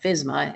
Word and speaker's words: FSMA: the initials FSM there that's usually pronounced like fsma it stands for this